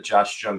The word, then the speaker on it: Jung: So, it's a J but said like a Y.